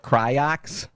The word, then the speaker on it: Croix: It's pronounced Croix.